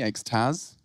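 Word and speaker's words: XTQZZZ: It's called by Vitality, X-Taz. I asked him how to say his name properly. He said, like the thing you take in the nightclub.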